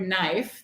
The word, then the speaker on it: knife: see on the slide, knife is spelled with five letters. We call these graphimmes because they're written, right? Knife has five graphimmes. But when we pronounce this sound, we only hear three phonms. We only hear three sounds, but there are five letters.